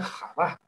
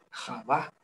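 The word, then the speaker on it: חוה: el latín decimos eva pero en realidad el nombre de ba se pronuncia java java y serpiente en arameo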